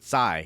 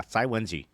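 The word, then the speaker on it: Cai Wenji: Yes, Lady Tsai Wenji. Oh, I did actually pronounce her name mostly right. I didn't I pronounced it Kai at first, but Tsai. Yeah, Tsai Wenji.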